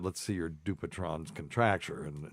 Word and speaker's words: Dupuytren: In French, in France, it is said as Dupuytren. Dupuytren.